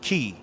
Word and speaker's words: chi: of people call it chi but it's key. Mhm. All right. It's pronounced key.